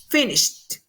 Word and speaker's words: finished: Y así, finish, termina SH. Entonces, el sonido es de SH, finish. Entonces lo vamos a pronunciar con T, la E, finished.